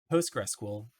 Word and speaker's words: PostgreSQL: PostgreSQL pronounced Postgres is an open-source Object-Relational database.